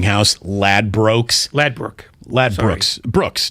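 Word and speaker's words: Ladbrokes: lad Brookes lad Brook lad Brooks Brooks not Brooks oh EXC I did write it it's spelled broke but it's lad Brooks okay lad Brooks anyways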